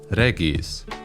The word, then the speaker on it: Regis: Also of French origin is the name of one of the most beloved characters from the games, Regis, in Polish pronounced Regis.